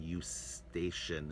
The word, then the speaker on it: Eustachian: So you can guess Eustaquio in Italian, Eustachian is the way we pronounce it in English.